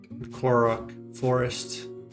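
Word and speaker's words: Korok Forest: The next on my playlist is uh the next on my playlist is um Cororo Forest. That's how you pronounce it from Breath of the Wild.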